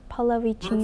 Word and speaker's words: Pallavicini: Is that right, Pallavicini? Perfect, yes. Perfect? Yahya Pallavicini, yes. Yahya Pallavicini.